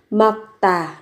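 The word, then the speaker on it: 맑다: bầu trời mặc tả đối với từ này thì chúng ta phát âm như sau phụ âm là phụ âm kép Tuy nhiên khi phát âm các bạn biến âm thành mậc và tà gấp đôi phụ âm t lên mặc tả mặc tả trong xanh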